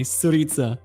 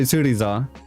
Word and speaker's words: Suriza: __ ] that can say my name properly suritsa well i was going to say i was going to say surisa um but then you